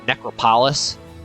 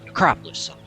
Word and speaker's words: Necropolis: like one of my streams and if I pronounce something wrong, he'll be sure and tell me like I would say Necropalis. It's like something else necropolis.